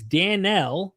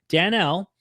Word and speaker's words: Daniel: by the way places Daniel, not Daniel like we always pronounce it, but Danielle, Daniel is also listed along with Enoch and Noah.